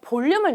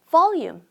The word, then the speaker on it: volume: 그러면 I want to add some volume. 여러분, volume 볼륨 하지 마시고요. volum 발음을 좀 신경 써 봅시다. V 발음할 때는 윈니가 아랫 입술에 살짝 얹혀져요.요 소리를 넣어서 volum volum 발음해 보실까요?